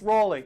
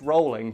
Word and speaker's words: Rowling: what was the endgame was the person telling rollin she's wrong about how to pronounce her own name and they got our miss Raleigh actually no it's rollin but it's a common problem we just address